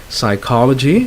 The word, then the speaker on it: psychology: a silent P there psychology of course you do not pronounce the P psychiatry you have covered